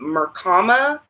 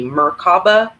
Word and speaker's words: Merkaba: d-r-i-a-n-s it's uh in mercama r i believe is actually he's mispronouncing it it's actually merkaba or i'm i'm i'm